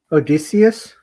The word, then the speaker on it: Odysseus: Odysseus?